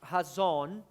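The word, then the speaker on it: חזון: palavra visão is the hazon. é no hebraico chamado razon, e se escreve da forma chazon.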